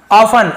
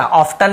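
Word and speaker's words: often: ऑफन, ऑफन यानी होता है हमेशा, ऑफ्टन नहीं पढ़ेंगे, ऑफन पढ़ेंगे, टी साइलेंट होता है, ठीक है।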